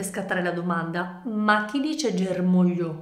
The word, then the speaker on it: germoglio: e tutte le altre prendiamo ad esempio la parola germoglio che noi sappiamo essere divisa in tre sillabe ger ma io nel pronunciare questa parola la sillaba su cui cade l'accento è mò che nel nostro